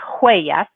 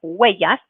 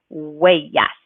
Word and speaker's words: huellas: word of huellas, that you're going to not pronounce the H, the H is always a silent letter, so make sure you don't pronounce that. So it's not huellas, but huellas, and then keeping in mind that double L is going to make the Y sound. So that's how we get the pronunciation huellas.